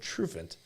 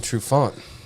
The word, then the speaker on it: Trufant: And I said, "How do you guys pronounce the name of this town?" They all said Trufant. And it's like fucking happy there. Till I go up there and it's fucking Trufant.